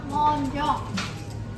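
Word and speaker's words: mendiant: Namanya adalah coklat median atau bacanya adalah monjong. Ya, monjong itu berasal dari bahasa Paris atau Prancis.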